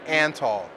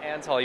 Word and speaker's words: Antal: your name for me Nimrod like the derogatory slang anall Nimrod anall you have it here on Zimbio that is how you pronounce his name this is the man